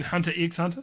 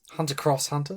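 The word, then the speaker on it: Hunter × Hunter: Ah, see they're going the hunter hunter route of how to pronounce it. No. Do you mean hunter x hunter? Shut up. Hunter cross hunter.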